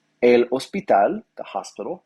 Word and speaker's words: hospital: El hospital, the hospital. Remember that H is silent, so el hospital instead of el hospital, right?